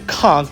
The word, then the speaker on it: Conch: Now, the whole area is called the Conch Republic, even though it is spelled Kunch, and that is after the famous Shellfish.